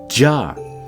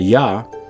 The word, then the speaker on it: Jah: And that's why we believe that this name Jah has been hidden, and not just, in terms of mispronounced with a Ya or an Aya, but it's actually being suppressed, Adonai Jah.